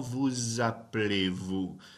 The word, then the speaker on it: vous appelez: But because that ends in a consonant and the next word starts with a vowel, I'm doing liaison and making a zzz sound right there.